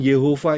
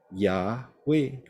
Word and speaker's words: Yahweh: Jelas kok Yod He Waw He, itu bacanya Yahweh, haleluya, Yahweh, ya. Jadi itu pengertian yang keliru kalau Yod He Waw He dibaca Yehova.